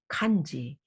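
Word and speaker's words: 漢字: would be pronounced as kanji because i'm korean i read that as hancha if i were vietnamese i would go i would say hantu so the same visual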